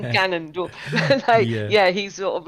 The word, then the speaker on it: Ganondorf: But Ganondorf, I always say it wrong, so I usually say Gandalf, but I don't Nice. I mean Ganondorf.